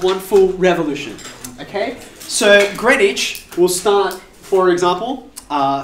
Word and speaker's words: Greenwich: to it is spelt it is spelt green witch um but greenwich what i want us